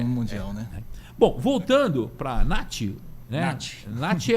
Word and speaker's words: Nachi: é um problema Mundial né bom voltando paraa Nati né Nati é a pronúncia em japonês na é pronuncia japonês o nosso Tupiniquim Nash n é Aceito Sem problema nenhum e é